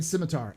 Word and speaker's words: Scimitar: There's no K in Scimitar. I know it's Scimitar, but they pronounced it Scimitar. So, because they're German, so we're saying Scimitar.